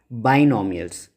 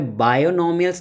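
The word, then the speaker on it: binomial: बाइनोमियल्स। यहाँ पे बायोनोमियल्स नहीं बोलना है। ठीक है, कई लोग कंफ्यूज होते हैं प्रोनाउंसिएशन को लेके, तो ये बायोनोमियल नहीं है, बाइनोमियल है।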